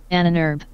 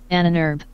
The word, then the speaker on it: Ahnenerbe: That's how you pronounce that in German.